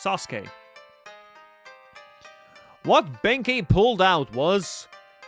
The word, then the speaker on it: Sasuke: is our friend Sasuke. That's how you say it. Like not Suzuk, it's Sasuke.